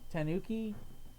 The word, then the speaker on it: tanuki: and I'm too drunk see you mispronounce it they just say he's a raccoon in English version he's actually a tanuki tanooki tanuki it's pronounced more gone